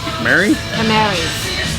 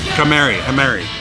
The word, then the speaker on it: Kamari: Mary? Kamari.